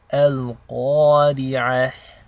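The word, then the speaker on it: القارعة: So let's begin with ayah number 1, Al-Qari'ah. First thing you notice is that qaf is a heavy letter. This means you want to pronounce it with tafkhim.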